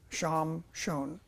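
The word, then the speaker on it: שמשון: Um, Avdon or Abdon means surviile or hard slavery uh uh Samson in Hebrew is actually pronounced sham uh shon sham shon and his me name means a splendid son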